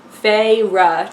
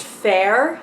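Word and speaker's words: Feyre: guide at the back is pronounced you can't see that Faye rough two syllables I got the preview i downloaded the preview which didn't have the pronunciation guide and i assume it was pronounced fair like like the fa ir a germanic form of a beauty Bell it all works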